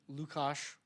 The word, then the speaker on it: Luka: Um, so I am Lucos, that's how you pronounce it, Lucas.